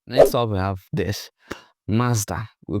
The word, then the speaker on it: Mazda: Next up, we have this Mazda. We call this Mazda. Like it's simple, master. But how do Japanese pronounce this? Well, it's totally different. They say Mata.